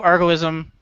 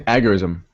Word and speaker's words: agorism: it is that basically the ultimate goal of argoism, I think that's how you pronounce it, is Algorithm? yeah. I'm changing the I don't word. think so. I think it's agorism.